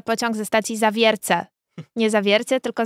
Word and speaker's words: Zawiercie: mówi że Nadjeżdża pociąg ze stacji zawierce nie Zawiercie tylko Zawiercia I oczywiście to są rzeczy których ja u